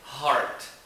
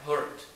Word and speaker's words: heart: A pronúncia dessa palavra é heart. Mas em vez de falar heart, você fala hurt, por exemplo. Você pronuncia de maneira incorreta. Hurt.